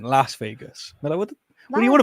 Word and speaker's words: Las Vegas: was in Las Vegas I deliberately didn't say loss because that feels British I went Las Vegas what what do you